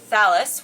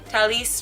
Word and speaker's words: Thalys: I went on a media trip with Thalys, which I learned is not Thalys, it's Thalys, and even better, Thalys.